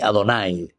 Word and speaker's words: Adonay: Lné Adonay se pronuncia. En realidad se escribe Yahvé y pero la pronunciación que ellos les daban siempre era Adonay.